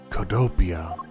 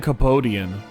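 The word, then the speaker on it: Cohdopia: Codopia. Oh, Codopian. Okay. Oh, I've been pronouncing it wrong. I was saying Copodian. I've been saying that wrong so much.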